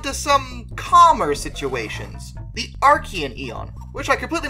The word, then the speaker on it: Archean: and move on to some calmer situations the archaean eon which i completely mispronounced the last video as archiean but uh that's actually said archaean my bad now the arcane is actually divided